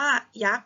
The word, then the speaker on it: ยักษ์: คำ ว่า ยักษ์ นะ คะ เรา อ่าน ว่า ยักษ์ เพราะ ว่า อะไร คะ เพราะ ว่า ตัว เสา